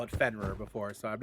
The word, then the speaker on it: Fenrir: And also, I would like to say it is pronounced Fenrir, not Fenrir, but that's just a small little Norse mythology critique of you. So I'm pretty sure I've heard Thor call it Fenrir before, so I'm not gonna get into that